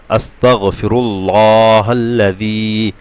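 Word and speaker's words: أستغفر الله: আলিফ টান হবে এবং জাল অবশ্যই জিহ্বার আগা দিয়ে হবে পাতলা হবে যেন না হয় বাংলা দেখে মুখস্ত করলে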